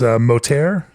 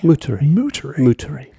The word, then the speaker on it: Moutere: But joining me for this episode here, catty corner adjacent to Freestyle Farms here in, how do you pronounce this, Motair? Upper Moutere. Moutere.